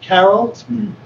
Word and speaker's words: Carroll: Is it pronounced Carroll?